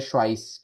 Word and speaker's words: Schweiz: ई आई है तो आई की साउंड आ रही है, एस सी एच है तो श की साउंड है, श्वाइस।